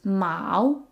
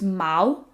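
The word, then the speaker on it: 毛: The word for fur or hair is ma. Ma. It sounds like the word for cat, but it's a different tone.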